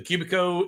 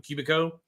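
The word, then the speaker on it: Cubiko: I'm looking forward very soon to getting the uh Cubico. The Cubico is the small CNC.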